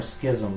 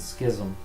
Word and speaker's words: schism: politic there's a word is it's ism or schism because I pronounce is schism my pants is Susan oh yeah I could be pronouncing it wrong that won't be the first time schism I think you're right to get schism yeah well no the K is in parentheses so both of us are correct they do Schrodinger's